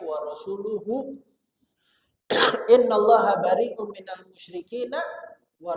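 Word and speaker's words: وَرَسُولُهُ: Kata Sayyidina Umar, bukan wa rasulihi, bacanya wa rasuluhu.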